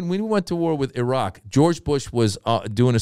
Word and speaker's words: Iraq: All right, I'm out here just to tell you, it's not pronounced yeah. Iraq. Yeah. It's not. It's Iraq.